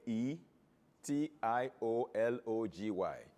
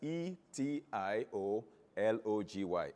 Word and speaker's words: etiology: known as etiology the english british english we spell it as a e t i o l o g y but american english will eliminate the a and